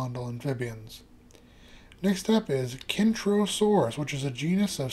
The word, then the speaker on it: Kentrosaurus: However, not only are the names Kentrosaurus and Centrosaurus spelled differently, they are pronounced differently, with the Kentrosaurus having a kicking K, while Centrosaurus has a soft C pronounced more like an S.